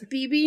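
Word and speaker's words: Bebe: what yes Pig thanks for the correction it's BB new much Mo a brain she played Lilith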